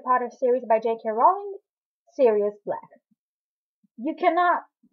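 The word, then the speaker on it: Sirius: person is literally named serious it's written like you know serious of you know I am serious but it is pronounced the same way and every time someone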